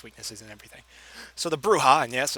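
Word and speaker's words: Brujah: So, the Bruha, and yes, it's pronounced bruha with a Spanish accent type thing.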